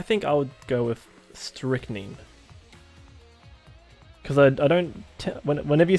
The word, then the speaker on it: strychnine: Google pronounces it as strychnine.